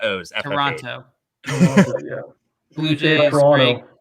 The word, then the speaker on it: Toronto: Toronto. We don't say the second T when we pronounce it here.